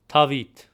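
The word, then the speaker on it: Դավիթ: Again for the hint notice how with the name David which starts with a D sound. For Western Armenian we use the T sound.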